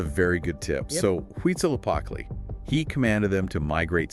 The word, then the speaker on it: Huitzilopochtli: It's pronounced Huitzilopochtli. Yes. If you don't nail that one, you're going to lose about 5 minutes of class time to giggles. That's a very good tip. Yep. So Huitzilopochtli, he commanded them to migrate south.